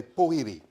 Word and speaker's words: pōhiri: The people of the far north and the people from Tairāwhiti have pōhiri. So they take out the W.